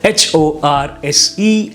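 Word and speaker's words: hoarse: on this list are h o r s e and h o a r s e now both of the words are pronounced as horse so what's the difference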